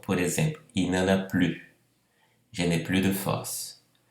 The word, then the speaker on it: plus: Vamos começar comentando os casos bem comuns da dúvida em relação à pronúncia de plus e tous, se pronuncia ou não S.